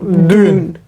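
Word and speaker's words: düğün: like say like this D then U with two dots on top of that then G with what? Silent silent G then U again with dots then N. So it is like dune.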